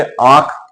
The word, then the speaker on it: आंख: लेकिन जब हम शब्द बोले आंख तो इतनी वायु नाक से नहीं निकलती।